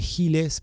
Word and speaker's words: Giles: Giles, que se escribe Giles, pero en realidad es Giles, St.